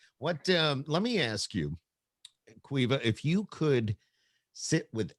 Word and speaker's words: Caoimhe: so yeah, it's an Irish name, but the original spelling is Caoimhe, but it's pronounced Queeva.